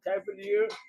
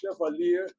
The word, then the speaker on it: Chevalier: movie's name was Cavalier, but not Cavalier, the right pronunciation, because the French word is called Chevalier.